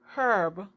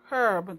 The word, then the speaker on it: herb: silent so words like herb because herb the h is silent it's on like it